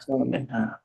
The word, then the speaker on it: صالحات: সলিহাত হ্যাঁ, এটা হচ্ছে ফিমেলটারে যখন আপনি صالحات প্লুরাল